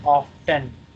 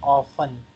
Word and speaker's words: often: And in USA, people say often. And in UK, people say often. They make the T silent.